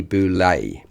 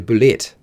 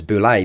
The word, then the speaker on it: bulette: and today is the boulay now I know what you're thinking no it's the the bullet or the Bullet no actually the correct pronunciation is um is boulay because it's French and that's because a